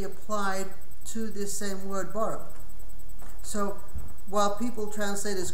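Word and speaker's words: ברא: Now, additionally, the word borrow has two letters, base and resh, which are the only letters you pronounce. The third letter, the aleph, you don't pronounce. It's bara.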